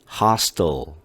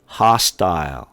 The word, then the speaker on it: hostile: 이 미국 사람들이 발음할 때 hostile, hostile 이렇게 발음을 하죠. L자 소리가 아닌 것 같아요. 그죠? 이게 바로 dark L 소리라는 거예요.